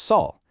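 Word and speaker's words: 雪: In Korean, it's pronounced Saul, and it means simply snow.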